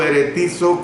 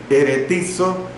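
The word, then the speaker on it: ἐρεθίζω: La expresión exasperéis, que es la palabra griega eretizo, se la repito, eretizo con H intercalada y con Z la última sílaba, eretizo, significa irritar, provocar, amargar, desconcertar o hacer que se resienta.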